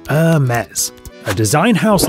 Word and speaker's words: Hermès: we should clear this up early it's not pronounced hermes it's a mess a design house like no other this french